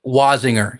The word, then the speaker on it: Wasinger: You you've got a Daniel, is it is it pronounced Wasinger? Is that how you pronounce it? Wasinger. Yeah, almost like there's a Z. Wasinger.